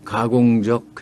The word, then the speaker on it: 가공적: 뭐 일이다 할 때 우리 남한 말에서는 가공적 해서 끝에 적이 순한 소리로 나죠 예사 소리 가공적 변 소리가 아닙니다 입니다 근데 북한에서는 가공적이 적으로 된 소리를냅니다 또 결정적인 하는 순간